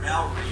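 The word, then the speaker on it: Māori: I also took the word Maori and butchered it to Maori in another video.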